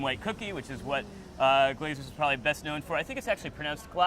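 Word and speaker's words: Glaser's: cookie, which is what Glazier's is probably best known for. I think it's actually pronounced glaziers.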